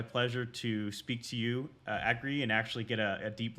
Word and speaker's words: Agri: name is angry uh you pronounce it like agree and and i agree